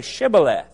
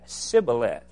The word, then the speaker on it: Shibboleth: they said to him then say Shibboleth and he said Cybil F for he could not pronounce it right then they seized him